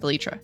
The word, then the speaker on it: elytra: not needing fireworks in the future for the elytra or elyra I I've always said elytra but apparently it's pronounced elytra I don't know Iron is going to be